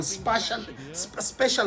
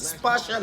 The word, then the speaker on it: spatial: There's something we called in football special awareness. Spatial awareness. That's the right pronunciation.